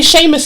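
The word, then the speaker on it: Seamus: you seen the way the way Sheamus is spelled it doesn't make sense it does not say Sheamus is in their language that's how it's pronounced you understand I'm so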